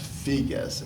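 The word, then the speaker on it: Figes: But anyway, there was a very interesting book on the Crimean War by an author named Hugo, I guess it's pronounced Figues, F-I-G-U-E-S, called the Crimean War.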